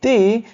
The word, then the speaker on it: the: before a vowel sound, so you have to pronounce like the before a vowel sound. For example, the eyes, see here, e is a vowel, so and before e or eyes we pronounce the the as the eyes, and the x, the umbrella.